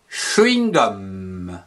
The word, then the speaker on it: chewing-gum: Le chewing-gum. C-H-E, che, W-I-N-G, wing, que l'on prononce chewing, gum, G-U-M, gum, que l'on prononce gum, le chewing gum, ou le chewing gum.